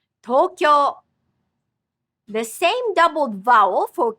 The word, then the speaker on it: Tokyo: Tokyo has 2 doubled vowel sounds, so it's a total of 4 syllables. The pronunciation of Tokyo is based on 2 Chinese characters meaning East Capital. Tokyo. Tokyo.